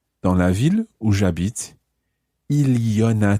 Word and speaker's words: il y en a: But when we say il y en a, you sound the N again.